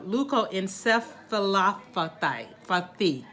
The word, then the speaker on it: leukoencephalopathy: Leukoencephalopathy.